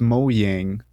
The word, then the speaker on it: Mojang: swedish so if it's probably pronounced mojang because the j is pronounced as a y oh you might be